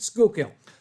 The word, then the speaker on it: Schuylkill: it's pronounced in Pennsylvania pronounced it properly in Dutch that's the funny part you're killing yes the original Dutch word you pronounced it properly but the pennsylvanians pronounced at Schuylkill would you like to